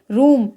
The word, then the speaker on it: room: यहाँ पर आप देख सकते हैं ROOM, तो डबल O के बाद में M दे रखा है, इसलिए डबल O का उच्चारण यहाँ पर ऊ के रूप में होगा। तो यहाँ यानी कि लॉन्ग साउंड में, तो यहाँ पर इसे ROOM को हम क्या पढ़ेंगे, रूम।